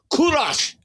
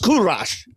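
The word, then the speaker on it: کوروش: He says, "Kurash." That's what he says. In Persian, it's pronounced Kurash, you know, and he's so proud.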